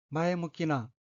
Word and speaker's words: 前向きな: 셋째 줄 오른편 두 번째 어휘는 한자가 앞전 향할 향자가 들어있고 일본어로는 마에무키나 라고 읽으며 마에무키나는 앞쪽을 향함, 사고방식이 발전적, 건설적, 적극적, 긍정적임이라는 뜻의 회용동사 마에무키에 나가 붙은 어휘로 마에무키나는 긍정적인 이란 의미입니다.